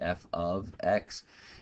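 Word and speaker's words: f(x): A lot of times students have that misconception that it's saying, you know, f times x. No, it's actually pronounced f of x.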